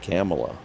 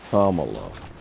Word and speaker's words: Kamala: WR camel to Harris I just said camela but it's Camala no it's Kamala I I don't give